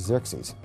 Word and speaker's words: Xerxes: And the Greeks said Xerxes, which is Xerxes.